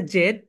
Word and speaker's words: Z: সুতা ওকে এরপরে যেটা জেডজেড হচ্ছে দুইটা প্রোনাউন্সিয়েশন একটা হচ্ছে ব্রিটিশ একটা হচ্ছে আমেরিকান ব্রিটিশরা বলে জেড বল ব্রিটিশরা বলে জেড আমেরিকানরা বলে তাহলে জেড কয়টা প্রনান্সিয়েশন বলতো দুইটা ব্রিটিশরা বলে জেড আমেরিকানরা বলে জি জেড জি British sound জেড American sound জি ওকে ঠিক আছে আমরা